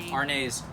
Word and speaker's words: Arneis: to check out definitely rnase a-r-n-e-i-s spelled like it's french pronounced like it's italian absolutely chinese thanks for